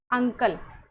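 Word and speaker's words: uncle: जैसे यहां पे है अंकल।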